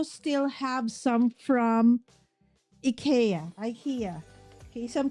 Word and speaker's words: IKEA: Um, some call it IA, right? So, but I did ask the people from the store when they opened up. I said, "How do you pronounce it?" So they said in the US or somewhere else they say IKEA but actually where we are it's IA right so it's okay.